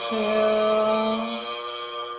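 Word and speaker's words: 合: Ni he.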